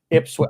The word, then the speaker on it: Ipswich: Okay, it is Ipswich.